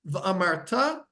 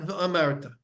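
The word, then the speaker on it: וְאָמַרְתָּ: it should be said, they need to be said milara, means you need to put the stress on the last syllable, v'amarta, and not v'amarta.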